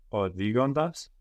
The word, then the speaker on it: οδηγώντας: Οδηγώντας. Οδηγώντας. So here we have the accent on the ontas because we have the accent on the ending of οδηγώ.